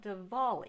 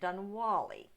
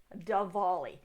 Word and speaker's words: Diwali: I'm Tiffany, a retired librarian turned homeschool mom, and in this video we're going to be talking about Diwali. I keep pronouncing it Dunwali because I'm an American.